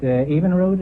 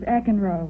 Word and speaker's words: Eckenroad: Evenroad, is that the way you pronounce it? No, it's Eckenroad.